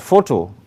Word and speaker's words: photo: You will notice that photo alone has two syllables, fo and to. You note that it's a noun and names something. Its emphasis lies on the first syllable thus. So you see photo with the stroke there.